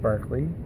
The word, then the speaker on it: Berkeley: So it's pronounced Berkeley.